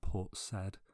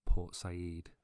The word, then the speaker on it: Port Said: and was part of I have pronounced one of the port names in Egypt incorrectly I say Port Said when I really mean Port Sayid but I didn't fancy